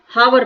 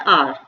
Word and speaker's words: hour: तो बहुत सारे बच्चे तो क्या करते हैं, इसको हावर पढ़ते हैं, बहुत गलत पढ़ते हैं वो इसको, क्योंकि इसका प्रोनाउंसिएशन क्या होता है आर, आर, एच साइलेंट है इसमें, तो हम क्या फिल करेंगे, NR एगो।